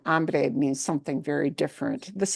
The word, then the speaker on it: hombre: yeah, cowboys, all that stuff, you hear this pronounced as hombre, but that is wrong. Hombre means something very different.